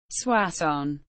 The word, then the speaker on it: Soissons: swass on French pronunciation swas is a commune in the aim